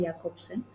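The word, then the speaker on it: Jakobson: as like J, his name starts with a J, but it's Okay. pronounced as Jacobson.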